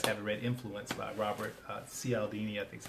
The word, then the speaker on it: Cialdini: We are what Robert Cialdini, that's another good book if you guys haven't read, Influence by Robert Cialdini, I think is how it's pronounced.